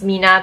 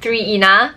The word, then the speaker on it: Mina: 3i and a by actually is pronounce Mina because I have been saying 3 inna but like when I